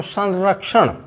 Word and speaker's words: संरक्षण: तो यदि रा से पहले आ रहा है तो संरक्षण, संरक्षण न की ध्वनि आएगी।